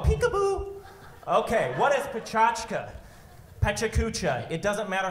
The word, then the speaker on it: PechaKucha: PechaKucha. It doesn't matter how you say it. It's Pechachka, PechaKucha. The Japanese kind of say it fast. They say Pechachka.